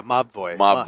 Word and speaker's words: Mobvoi: Mobvoi was out in the sands, but they finally I understand how you pronounce that. Yeah, Mobvoi.